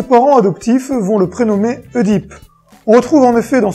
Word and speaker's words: Oedipe: les pieds enflés et se prononce oedipe ou est dit et bien si à l'origine on disait et deep tout comme on disait d'ailleurs amusé m aujourd'hui la prononciation oedipe et tout à fait acceptée et les deux peuvent se dire sans aucun problème le jeune homme grandi